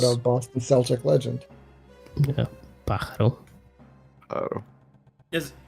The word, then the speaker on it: pájaro: Pájaro. Oh. Is Right. that not how it says? How do you pronounce it? Carlos? Pájaro. Bajaro?